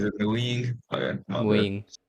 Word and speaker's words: Nguyen: Nguyen. It's one syllable. Okay. Nguyen. Yeah, it's like a tone thing as well as like, you know, a pitch thing.